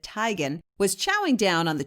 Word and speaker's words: Teigen: now someone has model chrissy teigen or she pronounces it tygan was chowing down on